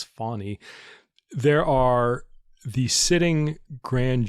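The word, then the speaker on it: Fani: Journal Constitution Article that fonny which is the correct pronunciation they note in that article like a fawn like a deer but not Fanny it's fonny there are the sitting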